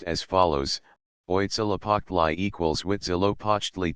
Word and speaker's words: Huitzilopochtli: The names of the more important gods are pronounced as follows: Oitzilapoctli equals Huitzilopochtli Tezcatlapaka equals Tezcatlipoca Quetzalcoatl equals Quetzalcoatli Zype equals Xipachalcohuitlicu equals Chalchihuitliquai.